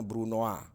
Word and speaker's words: brunoise: Jadi tulisannya brunoise, kita bacanya brunoise.